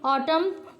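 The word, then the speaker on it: autumn: दिया हुआ है कि silent letter is left the on pronounced such as द जैसे डी आपका है in hand करर cheap and एन इन ऑटम एंड पी in cupboard तो साइलेंट वर्ड ऐसे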